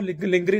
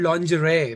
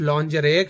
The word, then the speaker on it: lingerie: मैंने कहा हाँ यार सीरियस है, ये देखो लिंगरी लिखा हुआ है लिंगरी। वो कहती है इट्स कॉल्ड लॉन्जरे। मैंने कहा लिंगरी है, अबे स्पेलिंग्स नहीं तुम्हें पढ़ने आते सही। कहती है नहीं अहमद इट्स लॉन्जरे, शर्म करो कोई, और